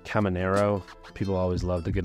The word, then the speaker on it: Caminero: Believe this guy's name is pronounced Caminero.